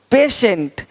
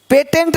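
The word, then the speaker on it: patient: कुछ है ही नहीं देखो पेशेंट पेटेंट नहीं पेशेंट पेटेंट पेशेंट पेटेंट पेशेंट तो श पेशेंट देख पा रहे हैं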